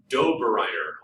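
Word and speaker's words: Döbereiner: And then Dobereiner, sounds like Doberman to me when I say his name.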